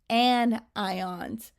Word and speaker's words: anion: Positively charged ions are called cations, and negatively charged ions are called anions. Those words are pronounced a little bit differently from how they look like they would be. A cation and an anion.